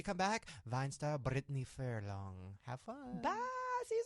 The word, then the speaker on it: Furlan: Thanks, Furlan, right?